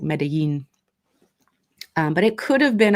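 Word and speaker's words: Medellín: I do believe it was in Colombia, close to, I believe it's pronounced like Medellin.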